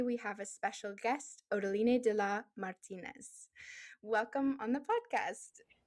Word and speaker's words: Odaline de la Martinez: I'm Nadia, your host, and today we have a special guest, Odolina Da Martinez. Welcome on the podcast. Thank you. And well pronounced.